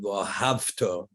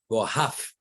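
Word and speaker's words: וְאָהַבְתָּ: love, if a person, rather than pronouncing it vohavto, like a V, you pronounce the V's like an F, vohavto. You don't pronounce it like a V, you pronounce it like an F, vohaf, like an F sound.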